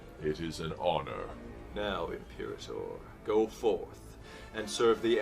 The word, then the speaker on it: Imperator: Impirator. That's how you pronounce it.